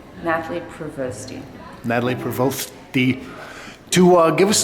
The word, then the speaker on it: Nathlie Provosty: Tell me the pronunciation. Nathlie Provosty.